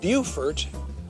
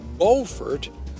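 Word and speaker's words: Beaufort: movie star John Wayne bufort South Carolina not to be confused with bfort North Carolina which is spelled the same and named for the same English gentlemen bufor is a beautiful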